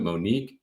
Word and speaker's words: Moniek: All right, we are in the Superhero Battle Room with Moniek. I actually pronounced it right because I asked before I went on stage because I wasn't used to that spelling.